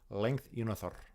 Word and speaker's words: Lengthyounarther: Length Unothor. Length Unothor. You got to roll the R at the end.